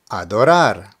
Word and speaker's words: adorar: Words that end in a consonant other than the letters N or S have the emphasis on the last syllable. So we have adorar, adorar.